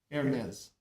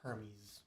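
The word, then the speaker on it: Hermès: I didn't know it was pronounced that way. Yeah. Hermes. It's It's French. Yeah. I always thought that was Hermes.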